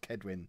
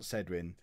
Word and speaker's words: Cedwin: Try and get Scott, what, the famous Cedwin Scott, who apparently it's pronounced Kedwin, not Cedwin.